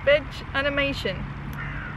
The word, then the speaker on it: VegAnimation: Veg Animation says, I'm going to pronounce that veganimation.